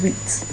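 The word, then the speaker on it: huit: And this one is wheat. Like you know wheat bread. Wheat. Wheat. So yes. So this is how you pronounce it.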